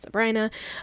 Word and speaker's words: Sabrina: Lake Sabrina and I know it's looks like Sabrina but it's pronounced Sabrina um I used a tree icon from Once